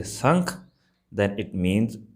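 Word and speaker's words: ਸੰਖ: I just remember actually it's not asank, it's sank. So, there no a sound at the beginning. It's just a sank. When we put a sound at the beginning it's asank.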